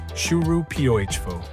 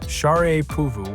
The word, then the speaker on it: Sharapova: pronouncing her name as Sharapova. But the shocking truth? That's wrong. The actual pronunciation is Sharapova with R as in Mary and A as in father, stressing the second syllable.